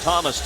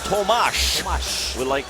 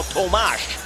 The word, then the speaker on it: Tomáš: That sounds like Thomas to you and me. Yeah. But in Czech, it's pronounced Tomáš. With an A-S-H at the end. So, at his request, he is now Tomáš Hertl.